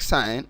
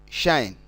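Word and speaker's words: sinh: Please note we pronounce this one as sin or shine.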